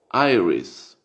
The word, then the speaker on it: iris: se escribe por esta deriva del latín pero se pronuncia aires airis si irish que es